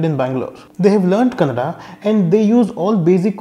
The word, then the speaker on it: Kannada: Bangalore they have learnt Kannada and they use all basic words when it comes to commutation or shopping. However, even they find it very difficult to say Kannada and end up saying Kannad.